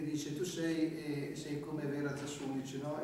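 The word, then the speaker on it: Засулич: Innanzitutto dirò a questo proposito che Vera Zasulic, pronunciate Zasulic, ma il vero nome, la pronuncia è Zasulic, che è questa rivoluzionaria molto interessante.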